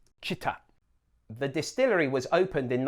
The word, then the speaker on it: Chita: Now, there's a tendency to lengthen the I and say Chita, but you want to keep them the same length. Chita.